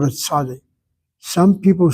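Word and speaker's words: צדי: A sadi they pronounce as sadik. And the only reason they say is a sadic is they add the letter k to the word sadi.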